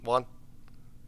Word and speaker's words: Juan: Did I pronounce that right? Juan?